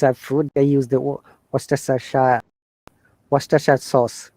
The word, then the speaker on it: Worcestershire: People think it is Worcestershire. No, it's Worcestershire. Okay. Worcestershire.